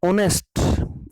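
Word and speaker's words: honest: रही है, इसलिए हम ऑनेस्ट, ओ की साउंड आ रही है, एच जो है साइलेंट रखा हमने, और इसीलिए हम ही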